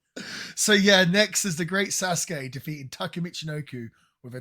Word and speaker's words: Sasuke: I'm going to guess this is the first time you've seen the Great Sasuke, or Great Suzuki, as they keep pronouncing it.